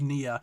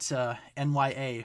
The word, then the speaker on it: Nia: I got a bottle of Nia, or as my Google Home Mini calls it, NYA for some reason, because it cannot pronounce the name Nia for whatever reason.